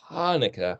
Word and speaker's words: Hanukkah: Het, as in Hanukkah. It's not Chanukah or Hanukkah. It's Hanukkah.